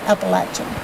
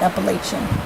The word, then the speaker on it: Appalachian: so i guess on some uh well the appalachian trail that's how you say it right appalachian not appalachian like i tried i used to say appalachian